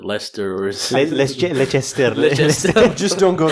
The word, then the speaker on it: Leicester: Square Leicester Square yeah is it lie sister is it Lester's make instead just don't